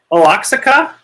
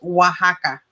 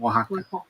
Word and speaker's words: Oaxaca: general the whole the all the letters have a completely different pronunciation in spanish remember this is a harder word this is the okay so i said aloxica okay and he said